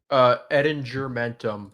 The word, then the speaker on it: Edinger Mentum: Edinger Mentum. It's a hard G.